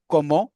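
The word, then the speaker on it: comment: पुख्वा पुख्वा then कम्स कोमो कोमो से आप वाकिफ हैं कोमो टी साइलेंट है कोमो देन कम्स केल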